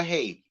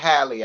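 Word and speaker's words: Halle: She cute, but she not finna be Chloe, or Haley. You understand? Hallie, I mean. People hate when you get her name wrong. Hallie.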